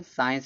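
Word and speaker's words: science: साइंस में देखो सी का उच्चारण नहीं हो रहा है।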